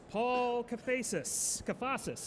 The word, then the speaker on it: Paul Kafasis: It is Paul Kafasis, actually. There you go. That's how go. I pronounce it.